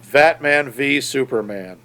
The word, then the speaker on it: Batman v Superman: Not even VS as verses, but Batman v Superman.